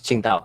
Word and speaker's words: Qingdao: It's pronounced as Qingdao.